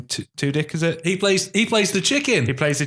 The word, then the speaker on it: Tudyk: It's Tudyk.